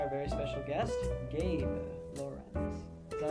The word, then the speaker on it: Lorenz: very special guest, Gabe Lorenz. Is that how you say your last name? Yeah, it is. For a while I should know that. Some people mispronounce it, Lorenzo. Lorenzo. Quite common.